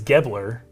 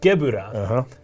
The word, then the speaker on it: Gebura: Gebura is in the Japanese. Gebler Yes. is pronounced Gebura.